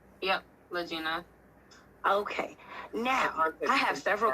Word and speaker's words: Lagena: refer to you as Miss Latina am I pronouncing your name correctly yep lagina okay now I have several questions that I